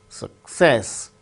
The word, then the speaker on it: success: Success, with stress on second syllable, success.